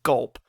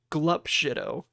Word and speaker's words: Glup Shitto: I say gulp because GLUP for some reason in my mind is spelled gulp. I'm just like, fuck. I gotta edit this whole thing and just put like an annotation being like it's glup shitto, or like do a voiceover just being glup.